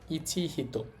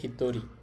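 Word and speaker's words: 一人: তাহলে নরমালি চিন্তা করলে এই শব্দের উচ্চারণ হওয়ার কথা। ইচিহিত। কিন্তু এটা ব্যতিক্রম। এটাই চিহিত হবে না। এটার উচ্চারণ হবে হিতরী।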